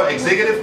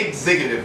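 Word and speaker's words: executive: خلاص، الفيرب نفسه اسمه اكسكيوت، يعني لما تيجي تنطق الفيرب تقول اكسكيوت، بتنطق اكس. لكن لما بنيجي نقول نجيب المشتق بتاعها اللي هو اكزيكتيف تنفيذي، بتنطقها زي اكزامبل، ماشي؟ بتبقى اكزيكتيف اوردر.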